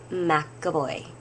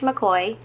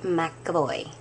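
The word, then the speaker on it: McEvoy: Trish McAvoy as well pronounced it McAvoy okay not Trish McCoy Trish McAvoy anyway put it here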